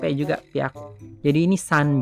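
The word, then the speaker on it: ぴゃく: Tapi kalau ketemu 3, 6, 8 perubahannya beda. Yang 3 jadi b, byaku. Ini kan hya jadi bya sekarang. Kalau yang 6 jadi p, pyaku. 8 jadi p juga pyaku.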